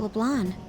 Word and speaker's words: LeBlanc: How about LeBlanc? You don't pronounce the C in the blonde?